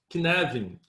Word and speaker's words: Cynefin: of kinevin so kinetin it's a welsh word and we pronounce canadian the name kinevin means